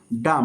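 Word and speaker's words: dumb: বির উচ্চারণ করবো না ডাম এখানে এম প্লাস বি আছে ডাম মানে বোবা নেক্সট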